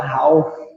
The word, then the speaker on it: half: Então, a gente acaba aprendendo como está escrito e tem um L lá no meio, tem um A, aí tu fala half, né? Só que o L é mudo.